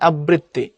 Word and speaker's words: আবৃত্তি: থাকে, রিকার যদি থাকে, তখন আগেরটা ডাবল হয়, যেমন আবৃত্তি হয় আবৃত্তি।